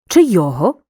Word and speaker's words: чийого: відмінюємо як прикметники Поглянь у непрямих відмінках займенник чи має наголос на другому складі наприклад чийого чи йому чи йому зверни